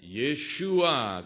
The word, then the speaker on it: 예슈아: 히브리식 발음으로 예수라는 이름이에요이 이름을 히브리 식으로 발음하면 예슈아 되고 헬라 식으로 발음하면 예수가 그래서 구약의 여호수아는 예수 그리스도의